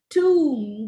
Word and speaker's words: tomb: is the right pronunciation lamb the ba is not realized it's lamb womb tomb the bur is not